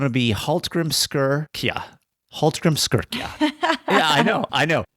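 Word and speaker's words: Hallgrímskirkja: to it's going to be halt Grim skira Hal Grim skira yeah I know I know and it's it sounds ex nowhere like it's spelled okay so but it's the big famous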